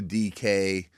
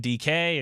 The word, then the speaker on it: DK: And then Pursuta, the typical writer background, he's like, well, it's not D.K. It's just DK. Just DK.